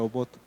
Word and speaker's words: Obot: así se escribe en hebreo esto, esta palabra obot dice que pronunciación obot no estamos bien, estamos pronunciando bien.